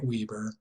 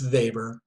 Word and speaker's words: Weber: below this now for Weber and again it's pronounced Weber but it looks like Weber that's a major Fulp on sociology so don't make it it's Weber in German for Weber who I would consider